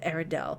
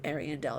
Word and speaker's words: Ariandel: There's Ring City and the Ashes of Arendelle, or Ariandel, I believe it's pronounced.